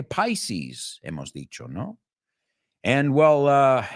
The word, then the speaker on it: Pisces: Life in Pieces, en trozos, en piezas, que no se pronuncia igual que Pisces, hemos dicho, ¿no?